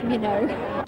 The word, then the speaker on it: Minogue: Like, no, it rhymes with Vogue. It's Minogue.